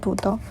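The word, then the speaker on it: ぶどう: In the word budo, both syllables begin with a voiced stop. It is unique in Wu Chinese because in Mandarin, both syllables will start with voiceless stops, and the pronunciation goes like putao.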